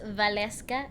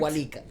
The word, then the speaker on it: Waleska: My name is pronounced Waleska, as in like V. Waleska. Yeah, it's pretty straightforward. Before that, I wonder how some of the people that have watched us. Oh well, I've had so many people say my name in so many ways that is actually not. I'm not like hurt. Walika. Yeah. Walkika. It's like those are not even the letters in my name.